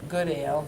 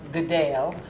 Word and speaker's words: Goodale: I had to let Ben know he'd been pronouncing the name wrong all of these years, that the name is Goodale, not Goodale. Goodale.